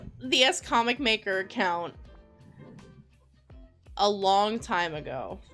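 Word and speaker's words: SComicMaker: be nice to me or stop no it's pronounced s comic maker I've been calling you scum maker yeah a lot of people call me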